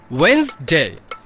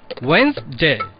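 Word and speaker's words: Wednesday: ওয়েডনেসডে বলে তো কোনো শব্দ নেই, উচ্চারণটা হবে ওয়েন্সডে। ওয়েন্সডে।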